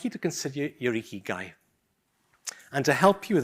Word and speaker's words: Ikigai: I'm not gonna put you on the spot, but my understanding is that this Japanese word literally is pronounced Ikigai and it literally means reason for being.